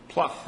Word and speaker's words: Plouffe: But obviously, David Plouffe, if I'm pronouncing his name correctly.